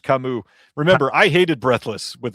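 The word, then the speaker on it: Camus: Everybody's saying it's pronounced Kamu.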